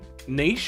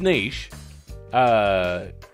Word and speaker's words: niche: Like, niche, apparently, which is niche, is often, not always, but often in America, pronounced niche, which irks the hell out of me.